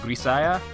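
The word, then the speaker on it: Grisaia: of episode 2 that it's pronounced like Messiah, so Grisaya. I'm assuming Grisaya because I think the Japanese writing for it had a za instead of a sa, so I think it's Grisaya.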